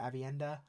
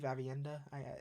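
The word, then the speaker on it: Aviendha: And uh, I always say the name wrong, but Avienda, I believe Avienda. You guys were correcting me last time, but hopefully I said it right this time.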